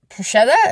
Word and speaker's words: bruschetta: we wanted an appetizer so we got Pusha bruschetta is how you say it the bread with